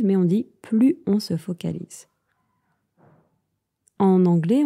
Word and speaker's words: plus: Dans ce cas-là, on ne prononce pas le S. On ne dit pas plus on se focalise, mais on dit plus on se focalise.